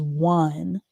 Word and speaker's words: one: This word is one. One. So, even though it has that w sound for the o, it's still spelled with the letter o.